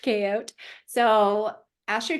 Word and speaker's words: Chaote: on Instagram asdot um everybody always ask like how do you say your last name well it's not my last name it actually means chaos magician and um it's pronounced koot so ask your K